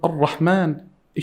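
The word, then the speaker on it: الرحمن: This ra over here in the word Ar-Rahman, it should be heavy. You have to say Ar-Rahmani.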